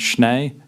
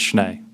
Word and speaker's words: Schnee: Also, I just wanted to note that My last name is pronounced Schnee. You might have heard it pronounced incorrectly at times, but it's Schnee.